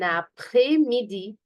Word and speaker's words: après-midi: Bon après-midi. Repeat after me, please. Bon après-midi. Okay, here there is a liaison, if you see, and S here is not going to be pronounced.